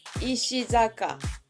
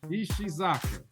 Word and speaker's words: Ishizaka: your last one so my last name is ishizaka ishizaka hey right on man good deal yeah ishi